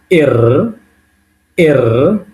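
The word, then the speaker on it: Р: তারপর এটা কি 18 নম্বরটা আমি আগে দেখাইছিলাম, পি এর মতো দেখতে, কিন্তু এটা অ্যাকচুয়ালি রাশিয়ান ভাষায় আমরা বলবো এর। এর উচ্চারণ হবে কিসের মতো, র এর মতো, এটাকে বলবো এর, এর।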